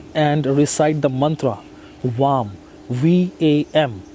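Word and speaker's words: वं: recite the mantra VAM, V-A-M. V-A-M is how you write it, but you gotta pronounce it as VAM. VAM, V-A-U-M. You have to pronounce it like that.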